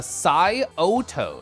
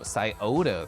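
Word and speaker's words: Scioto: in the corner a it's pronounced uh saoto saoto thank you oh it's a river that runs through Columbus okay oh two or three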